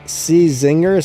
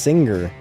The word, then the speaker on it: Czinger: me I pronounced it czinger somebody was telling me that that Brand's actually pronounced singer I'm like really singer why would they name it C- Zinger if it was singer right it doesn't make any